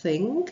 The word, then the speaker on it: think: Od toho think, tam je to th, vlastně vy dáváte jazyk za zuby, za horní zuby a chcete jakoby říct th, jakoby jste chtěli říct s, ale ty zuby vám